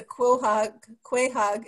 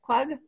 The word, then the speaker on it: quahog: And I just want to add that I didn't know that what I always thought was a quahog is actually a how is it, quag? It's quag.